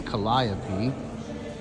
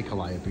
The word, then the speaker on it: Calliope: named after the Muses, but we pronounce them differently. So this is the Muse Calliope, or Calliope. I guess we say Calliope in New Orleans, Calliope Street.